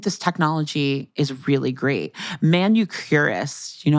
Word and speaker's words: Manucurist: Manucurist, that manicurist, manucurist. Yes, I spelled it once wrong in a story and it got published and I still feel bad about it. Oh no. It's spelled, guys, it's manicurist, but instead of the I, it's a U.